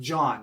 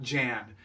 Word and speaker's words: Jan: It sounded way too Italian, but it was John spelled Jan, you know, but pronounced John, not Jan, unlike that rascal on the Cloud City.